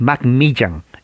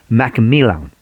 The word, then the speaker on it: McMillan: o sea no es mac millan en español pero la doble l se pronuncia como l mcmillan entonces john mcmillan era